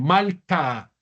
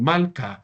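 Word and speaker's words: מַלְכָּה: pronuncie fuerte muy bien cómo se leería mal muy bien malca sin la pronunciación de la G final malca malca ahorita decíamos melej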